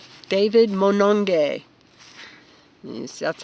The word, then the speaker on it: Monongye: you can you say his last name everybody Manong gay David moanin gay yes that's how you spell it and do you know it was it